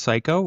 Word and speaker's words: Cayko: Uh my name is Psycho. It my last name is actually pronounced that.